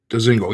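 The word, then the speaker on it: Dzingel: We had Ryan Dezingle. I think that's how it's pronounced. Dezingle.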